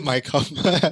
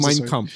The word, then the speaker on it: Mein Kampf: I heard you my Kampf. It's pronounced Mein Kampf, Yeah, right?